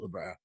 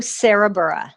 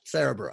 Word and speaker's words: Sarabura: So that was excuse me, Labra. Wait, no, you say it. I always say it wrong. Sarabura. Sarabura.